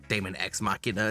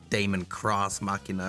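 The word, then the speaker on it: Daemon X Machina: was Damon X Machina I believe if you pronounce the Damon ex machina it's not like Damon cross Machina or demon cross machina right anyway this is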